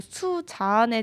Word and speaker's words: 수잔: 수잔 수잔 이렇게 하잖아요 근데 그 진짜 억양이 약간 다르더라고요 그래서 신기했습니다 이름 발음은 수 자안에 좀 가깝다고 해요 근데 이게 수잔이라는 이름을